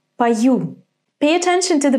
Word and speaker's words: пою: Remember, when о is unstressed, we pronounce it as а. So, this is пою, not пою.